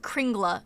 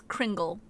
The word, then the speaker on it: Kringle: I see it's pronounced Kringla. No, it's not. It's Kringle.